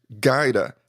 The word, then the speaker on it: Gajda: it right so I know you said it's pronounced Qaeda but it's spelled with G aj da correct